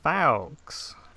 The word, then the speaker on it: Fowkes: I'm told so yeah most people say folks when they see my name written but so you